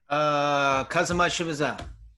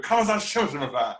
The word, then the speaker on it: Khamzat Chimaev: Khamzat Chimaev? How do you say it, Don? Khamzat Chimaev. That's a good one. Just push right there. Khamzat Chimaev.